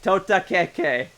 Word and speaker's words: Totakeke: Oh, Totakeke. That's how it's actually pronounced.